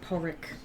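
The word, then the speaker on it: Pádraig: Technically speaking, it's pronounced Padraig, There you go.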